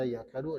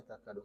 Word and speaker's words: تكاد: Takadu bitta'i wal ya, ada yang membaca yakadu, ada yang membaca takadu. Kita membacanya takadu.